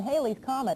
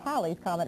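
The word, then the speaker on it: Halley's Comet: On this swing around our solar system, Haley's Comet, or Halie's Comet rather, I've got to remember to pronounce it right, will not be as close to the Earth as it was back in 1910.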